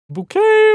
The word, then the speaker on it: Bouquet: Bouquet residents. The lady of the house speaking. Shade. It's pronounced bouquet.